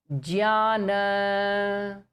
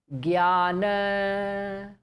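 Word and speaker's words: ज्ञान: So the word Jnana, A Hindi speaking person will pronounce it as Gyana.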